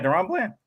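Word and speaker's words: DaRon Bland: Yeah, Deron Bland.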